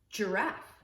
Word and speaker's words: giraffe: You can see that the G is bumping into an I. Giraffe. Giraffe. Giraffe has the soft G sound.